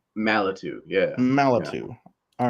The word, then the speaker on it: Malatu: Am I pronouncing it right? Malatu.